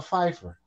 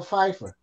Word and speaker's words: Pfeiffer: your name is Michelle Pfeiffer she says yeah he says well why the p is silent she says the p